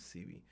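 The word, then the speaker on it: Sebi: C be calm study but the real way to pronounce his name is C V so dr.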